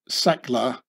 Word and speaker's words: Sackler: and swiss German name by taking off the umlaut on the a that is the two dots on the a which makes an e sound from the ah sound and not really needed in English because in English the name secler gets exactly pronounced the original German or swiss German